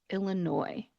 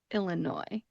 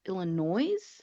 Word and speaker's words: Illinois: However, in this case, because it does come from a French word, we do not pronounce that. Instead, we are going to leave off that final S and just pronounce it Illinois.